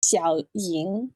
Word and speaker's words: Xiao Ying: I swear, this channel just has such a hard time with the X sound. It's Xiao Ying.